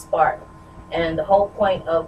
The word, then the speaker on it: SPRRC: of here and uh my organization is called spark it's spelled SP P rrc but it's pronounced spark and the whole point of what I do